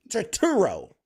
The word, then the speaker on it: Turturro: Turturro. There you go. You're John the Turturro. fucking worst at pronouncing anything.